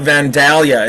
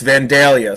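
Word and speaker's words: Vandalia: He's like, "It's not Vanalia. It's Vanelia."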